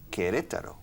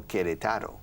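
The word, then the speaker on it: Querétaro: city in mexico called queretaro no queretaro all right the stress falls on the second syllable okay the stress is on the second syllable the stress falls on the second syllable or you need to stress you need to stress the second syllable so put the accent over the second e you understand yes all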